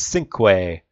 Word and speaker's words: cinq: It's Sync. Yes, Sync. Yes, I'm guaranteed that's how you pronounce it. So, good luck to all of you. Five. We will have, or just five. We will have... Sync is also an appropriate one because it is French, yeah.